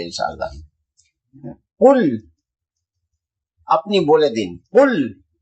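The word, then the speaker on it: قل: কুল আপনি বলে দিন কুল এই যে আরবি উচ্চারণ তো কুল বড় কাফ এর উচ্চারণ আলাদা ছোট কাফ হলে তার উচ্চারণ আলাদা মানেও আলাদা আরবি খুব খুব সূক্ষ ভাষা এখন আমরা পড়ি কুল আউজুবি রাব্বি নাস জি কুল আউজুবি রাব্বি নাস কুল ছোট কাপ দিয়ে বললে তার মানে হলো খাও ছোট কাপ দিয়ে তার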